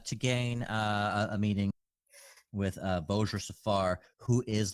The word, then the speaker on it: Vajra: But apparently Vajra, V-A-J-R-A, is pronounced Vojra. V-O-J-R-A-H. Vojra. It's pronounced.